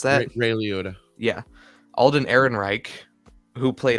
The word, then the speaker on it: Liotta: I don't know how to pronounce that. Ray Liotta.